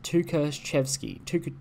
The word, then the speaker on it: Tukhachevsky: Tukhachevsky.